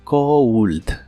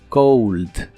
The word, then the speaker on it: cold: frío o tener frío se pronuncia con una u después de la O Cold Cold y usaremos dos palabras